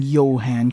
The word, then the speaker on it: Johan: Okay, you're an but I commend you for pronouncing Yan correctly.